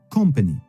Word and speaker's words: company: Ça se prononce ainsi, company, avec un P aigu et un O ouvert.